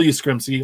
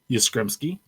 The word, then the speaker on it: Yastrzemski: And then on Christmas Day, we received a present from Topps, week 94, card 271, Carl Yastrzemski, Hall of Fame outfielder, Boston Red Sox.